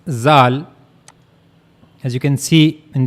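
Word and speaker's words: ذال: So this is the only difference between dal and zal.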